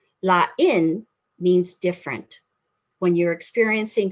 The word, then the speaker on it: lain: They're spelled the same, L-A-I-N. The accent is different, so you pronounce them differently. Lain means different.